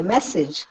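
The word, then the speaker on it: message: മെസ്സേജ്, മെസ്സേജിൽ സിജ് എന്നുള്ളത് കൂടുതൽ കേൾക്കുന്നില്ല. മെസ്സേജ്, മ എന്നതിനാണ് സ്ട്രെസ് കിട്ടുന്നത്.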